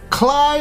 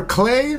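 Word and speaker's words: Klei: game studio number four cly or clay stu entertainment it all depends on how you guys want to pronounce it it's k-l-e-i entertainment these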